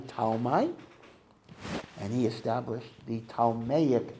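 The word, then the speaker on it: Ptolemy: One general's name was Talmi. That's spelled in English like Pon. P O L M Y. Talmi.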